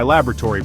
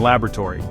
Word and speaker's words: laboratory: some research for my laboratory project notice the emphasis on the first syllables research and laboratory a Brit would say